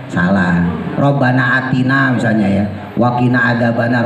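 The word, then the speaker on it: وَقِنَا: Robbana atina misalnya ya, wakina adzabannar. Wakina kan kagak ada tasdidnya, sering dibaca tasdid wakinna adzabannar, padahal kagak ada tasdid.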